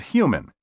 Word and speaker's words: human: Be sure to clearly pronounce the H in huge and human.